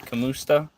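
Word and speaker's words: kumusta: It's one word, kamusta. Ka. They pronounce it the same pretty much.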